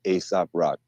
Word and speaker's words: Aesop Rock: else's name his name the proper name is Aesop rock a-e-s-o-p rock rock no no why